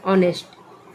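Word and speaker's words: honest: में हम अ लिख जैसे ऑनेस्ट ऑनेस्ट में क्या लिखेंगे उच्चारण हो रहा अ लेकिन लिखने टाइम में एच ओ एन ई एस टी नेस्ट लिखते हैं सी तरह आई है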